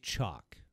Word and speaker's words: Chaac: tier one as well jack is a super fun character to play and he's just he's just playing nuts wait i learned last night that his name might be pronounced chalk but who cares he's jack to be